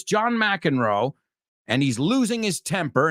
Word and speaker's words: McEnroe: McEnroe, you say, right? We say McEnroe. John McEnroe. Yeah, we don't pronounce it the same, that one.